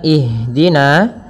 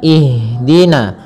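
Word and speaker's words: اهدنا: mengalirnya nafas kita maka jangan sampai huruf Ha ini memantul misalkan ihin akan tetapi alirkan nafasnya ihdina ihdina ihdina ya dengan aliran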